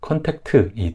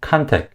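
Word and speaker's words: contact: 없는 음절이 그래서 여기서 컨택트이 트는 없는 음절 있니다 그래서 콘택트에 트를 빼고 콘택 중에 이제 강세 음절을 살려서 컨택 컨택 이렇게 발음해 주시면 잘 알아듣고 근데 I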